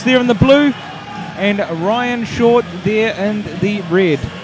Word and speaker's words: Rhyan: You know, Ryan Short. Well, it's quite a unique way of spelling, but it's still pronounced the same.